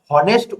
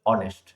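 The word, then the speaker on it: honest: তো তোমাদের মধ্যে অনেকে আছে এটাকে হনেস্ট উচ্চারণ করে, বাট এটা অ্যাকচুয়ালি হনেস্ট না। এখানে যে এইচ যেটা আছে এটা সাইলেন্ট থাকে, তা প্রোনাউন্স হয় অনেস্ট, তাই আমরা তার আগে এন বসাবো।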